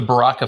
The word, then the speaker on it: Baraka: It's the Baracha. Is it Baracha or Baraka Foundation? So we called it the Baraka Foundation.